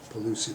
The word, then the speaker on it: Pigliucci: Pigliucci, that's right, Pigliucci, no G, even though it's in there. The G is silent, weird.